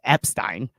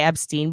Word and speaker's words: Epstein: know, an Epstein visa, Epstein. That's hilarious. I'm not even gonna say Epstein because Epstein rhymes with Einstein and I prefer it.